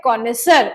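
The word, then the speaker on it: connoisseur: ये वर्ड है कॉनेसर, इसको बोला जाता है कॉनेसर। इसकी जो एक बार प्रोनाउंसिएशन है उसको डेफिनेटली लिख ले, दैट इज कॉनेसर, ऐसे बोला जाता है इसको।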